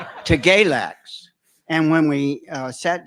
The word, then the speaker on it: Galax: And he said, "It's freeze in the winter and fries in the summer."